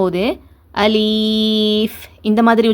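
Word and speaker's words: ألف: அ லி இஃப் அ லி இஃப் அலிஃப் அலிஃப் இந்த மாதிரி உச்சரிங்க. இந்த மாதிரி உச்சரிக்கிறது தான் சரியானது.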